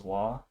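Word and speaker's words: は: thumb for now is if ha is later in the sentence or the word probably is going to be pronounced as wa just as like a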